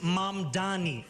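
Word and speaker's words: Mamdani: And furthermore, the name is Mom Dani. M A M D A N I.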